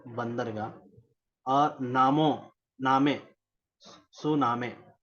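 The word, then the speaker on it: tsunami: प्रकार से सुनामी और सुनामी आप लिखते हैं टी साइलेंट हुआ करता है टी एस यू एन ए एम ए सुनामी यह भी हो सकता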